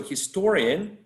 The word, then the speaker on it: historian: that's true right so historian the stress is placed right before the suffix historian because uh history history has the suffix in the first syllable if i'm not mistaken yes history and when we attach the suffix en and we say historian we place the stress in the syllable preceding the suffix and the syllable before